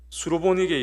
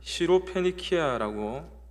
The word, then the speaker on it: 시로페니키아: 오늘의 복음은 수로보니게 여인의 믿음에 관한 말씀입니다. 한 이방 여인이 예수님을 찾아와 도움을 구합니다. 우리가 지금 보고 있는 한글 개역 개정에는 수로보니게라고 번역되어 있지만 좀 더 정확하게는 시로페니키아라고 읽어야 합니다.